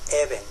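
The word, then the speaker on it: אבן: hebreo piedra en hebreo se dice even even even se compone de tres letras alef bet y nun cada letra en hebreo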